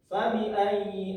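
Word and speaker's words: فَبِأَيِّ: Ayi di huruf ya ini ada yang namanya tasdid. Maka kita harus membacanya dengan cara menekan. Menekan selama kurang lebih dua ketukan.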